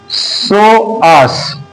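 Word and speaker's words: psoas: स्वास मेजर स्वास मसल्स स्वास स्वास नहीं सोस पी साइलेंट है स्वास मसल स्वास मेजर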